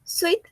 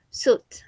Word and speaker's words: suit: No decimos suit, sino que decimos suit. La I no se pronuncia.